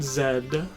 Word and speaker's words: Z: I wonder why it is that Z is always pronounced Zed. Because literally everywhere outside of America does it.